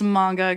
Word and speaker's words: manga: his stuff out um another comic book or Manga artist I'm doing or reading sorry um I just want to tell you I've been saying manga this whole time is that common or did